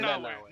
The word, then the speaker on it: Nanaue: Nanaue. Nanaue. Sorry, I didn't have subtitles, so I was basing it off of Same. my horrible hearing. Same. But Nanaue, she brought out like the sweetheart in Nanaue.